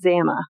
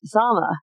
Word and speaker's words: Zama: Most people that have never heard of camp zama before pronounce it zama like uh in camp. It's really pronounced zama.